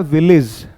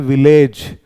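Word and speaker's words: village: देते हैं ठीक है इसका सही उच्चारण क्या होता है विलेज और हम करते हैं विलेज जो गलत होता है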